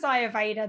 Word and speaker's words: Ayurveda: tricky word it um it is a sanskrit word so it comes from the sanskrit language and ayurveda it is